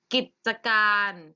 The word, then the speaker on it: กิจการ: เหมือน อ่ะ เสมอ เลย กิจการ อ่าน ว่า กิจการ กิจการ มี สระ อะมั้ย ก็ ไม่ มี แต่